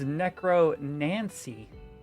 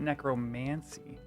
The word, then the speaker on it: Necro Nancy: It's Necro Nancy, not Necromancy.